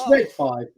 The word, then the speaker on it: ReadFive: Andy Lemay says, is it pronounced ReadFive or ReadFive? You used to get that all the time when you two first started, didn't you? Here they are, ReadFive Designs. Andy knows. It's ReadFive.